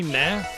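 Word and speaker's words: ね: If anything ends with nah, like N-E, nah, just the word N-E, nah, right?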